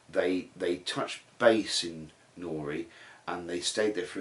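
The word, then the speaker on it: Newry: Wednesday we went to nori Cathedral knows printer it's spelt new re NE w ry but it says pronounced nori so we went to nori Cathedral and that's in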